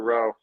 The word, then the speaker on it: Lowe: I think Stringer's popping in to tell us Mr. Lowe is pronounced Mr. Rowe.